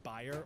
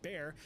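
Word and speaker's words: Bayer: BA or more commonly pronounced buyer or bear decided to take a stab in the lab to produce something fab.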